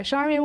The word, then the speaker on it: Charmian: Charmian, welcome to Talk of the Desert. Thank you. You not only pronounced Liesl right, you pronounced Charmian right.